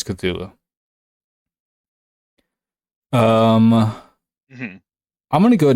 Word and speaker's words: Cthulhu: I didn't know is that is not how you actually truly pronounce his name okay uh true the correct pronunciation written from Lovecraft himself is kululu is there a t